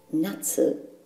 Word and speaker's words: 夏: Ki for summer in this video tutorial it's pronounced nut and we need it so that we can